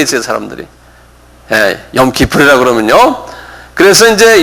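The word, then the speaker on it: 욤 키푸르: 욤 기풀. 요건 그 통째로 그냥 외우셔야 돼요. 욤 기풀. 한 발음해 보세요.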